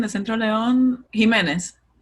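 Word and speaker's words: Jimenes: How is it pronounced, Jordy? What were you saying? The Centro Leon? Jimenez. Jimenez.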